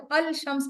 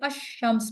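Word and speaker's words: الشمس: जैसे कि ये शम्स है, शम्स में जब अल लगा दिया जाता है तो अल शम्स नहीं हम पढ़ते हैं, हम इसे अश शम्स पढ़ते हैं, लाम बीच में से साइलेंट हो जाता है।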